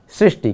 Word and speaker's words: सृष्टि: देखिए तो यहाँ पर सुख और सूक्ष्म के बाद आएगा सृष्टि, क्योंकि इसके साथ री जुड़ा हुआ है, इसीलिए हम इसका उच्चारण भी करते हैं सृष्टि।